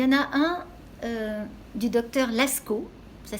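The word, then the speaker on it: Laskow: Il y en a un du docteur Lascaux, ça s'écrit L-A-S-K-O-W.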